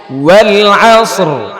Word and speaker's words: والعصر: রি রি আসর মাক্কিয়্যাহ والعصر ولنا والعصر শেষে র আছে না নাই উচ্চারণ করতে হবে والعصر والعصر والعصر والعصر